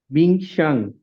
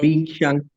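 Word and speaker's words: 冰箱: Just read the syllable one by one. 冰, the first syllable, the initial is 波, and the final is 英. Just spell them together. 冰, and the second syllable, the initial is 西, and the final is 央. 冰箱. Okay. Bingshang. Okay, good.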